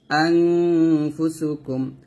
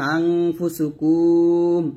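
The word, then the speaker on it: أنفسكم: মিম পেশ কুম আনফুসুকুম আমরা অনেকে এরকম কাফ মিম পেশ কুমু মানে মিম সেকেন্ড পাইলে হরকতের পরে তখন আনফুসুকুম এরকম টান দেই তো টান দিলে কিন্তু এটা বড় ভুল হবে টান দেওয়া যাবে না আনফুসুকুম এরকম পড়তে হবে কাফ মিম পেশ কুম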